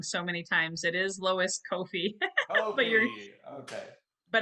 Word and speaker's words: Lois Koffi: had my name said wrong and i've said butchered names wrong so many times it is lois kofi but you're okay but it's funny because i